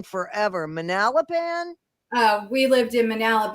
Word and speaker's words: Manalapan: Manalapan. Uh, we lived in Manalap and we moved from Monroe Township where this happened to Manalapin. Yeah, it's Manalapin.